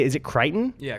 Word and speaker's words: Crichton: But I am not certain if you have read the, how do you say, is it Crichton? Yeah, Crichton.